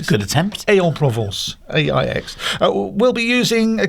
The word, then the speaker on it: Aix-en-Provence: Italy and ending at our regular stopover at Aix-en-Provence. Have I pronounced that correctly? I think so. It's a good attempt. Aix-en-Provence, AIX.